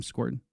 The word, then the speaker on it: Scourton: You pronounced his last name Scorton.